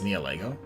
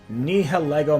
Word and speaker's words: Nihilego: I think it's Neolego. I always think, this is how I remember Neolego. I always think Lego my ego, Nihilego my ego.